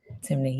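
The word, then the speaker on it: Temne: She is also multilingual, fluent in English and correct me if I'm wrong on the pronunciation, Creo with professional proficiency in Spanish and Timney. Timney.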